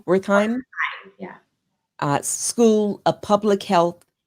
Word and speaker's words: Wertheim: to lead the Herbert uh, Wertheim, am I pronouncing it correctly? Wertheim Yeah.